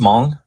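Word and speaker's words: Hmong: See our resident historian uh knows all um among so where it's just mong you don't that the h is silent.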